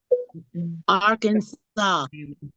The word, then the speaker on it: Arkansas: Now, this one, first of all, how do you pronounce that state? Arkansas.